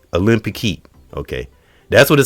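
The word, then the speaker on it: Olympique: Olympic okay it's the L O G Olympic heat okay that's what it says folks I can't say okay concert delago. Say that word again. Olympic.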